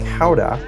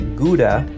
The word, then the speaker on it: Gouda: In markets like this in the Netherlands, locally produced cheeses like Gouda, or as Americans say, Gouda, chocolate, fresh pancakes, poffertjes,